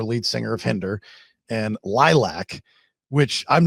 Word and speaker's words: Lylvc: bio that it it's lilac pronounced lilac and the V is actually an upside down A and I learned a